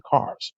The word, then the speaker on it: Carr: My grandfather's name is Willie Marshall Carr. Willie Marshall Carl? Carr, as in C-A-R-R.